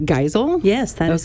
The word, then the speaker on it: Geisel: And Kelly, you are Madge, tell me if I'm saying it right, Geisel?